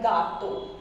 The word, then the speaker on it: gato: The when G is followed by A, O, U, then the sound will be like hard G. For example, gato, right?